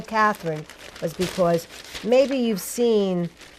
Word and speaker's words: Cathryn: Catherine Miller Wilson and her Catherine is spelled CA thr YN right Catherine yes and truth in advertising I'm